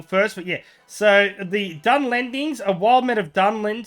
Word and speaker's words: Dunlendings: The new units will include the Dunlins, the Warbeast, the Hobbit Hunters, and the Brey Riders. Or the Dunlendings, if you want to pronounce it correctly, EJ.